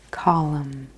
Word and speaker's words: column: diagonal yes okay column column mm-hmm even though it ends with mm in we don't really pronounce that all the way so column it kind of becomes